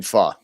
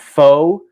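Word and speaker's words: phở: Basically, like FA is if you wanted to say it like phonetically, I guess you would say it. Pho, FA. Yeah. That's how you would pronounce it properly.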